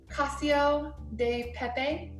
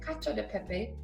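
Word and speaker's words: cacio e pepe: It looks like it's spelled cacio de pepe, but it's actually cacio de pepe.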